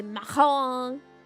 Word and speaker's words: macaron: If you want to pronounce it well, you have to sound as disgusting as possible. You gotta say macaron.